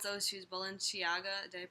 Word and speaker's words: Balenciaga: So it says, it's those shoes, Balenciaga. Did I pronounce it right?